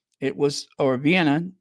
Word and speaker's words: Vienna: was so dirty and not Vienna not vanan not V it was or Vienna not vanan it was